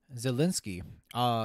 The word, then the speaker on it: Zelensky: time ever to put down is that President Zelensky. Yeah, there we go. I just pronounced his last name correctly.